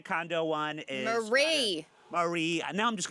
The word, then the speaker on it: Marie: Tokyo one which I always like um the Maria condo one is Marie Marie and now I'm just gonna Marie well